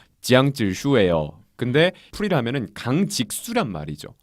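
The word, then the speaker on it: 江直树: 일단 장지수는 중국어로 발음을 하면은 지양질수예요.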